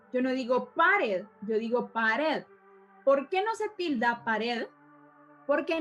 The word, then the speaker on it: pared: Y vamos a verle el otro ejemplo que es pared. Entonces, según el aplauso que yo vaya dando, dando, eso es las sílabas en las que está dividida mi palabra.